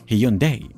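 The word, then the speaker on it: Hyundai: وتعني حديث ومتطور ومتجدد وتنطق في اللغه الانجليزيه هيونداي فارد وهو نسبه الى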